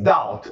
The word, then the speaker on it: doubt: Today, few scientists doubt. Ou seja, atualmente, hoje em dia, hoje, poucos cientistas doubt. Não pronunciamos aí o B.